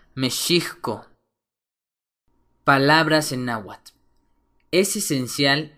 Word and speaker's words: México: otro ejemplo más es México que originalmente se escribe y se pronuncia mesko palabras en naat es